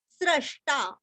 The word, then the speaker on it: स्रष्टा: हल्का सा स, शांतिदस स्रष्टा, स्रष्टा जैसे हम विष्णु सहस्र का स्र पढ़ते हैं ना, वैसे यहाँ पे स्रष्टा और ष्टा का उच्चारण भी अच्छे से करना है, स्रष्टा।